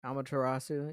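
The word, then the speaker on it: Amaterasu: ] back to the original thing the uh amatarasu did I say it right yeah amatarasu yeah hey I might I might even put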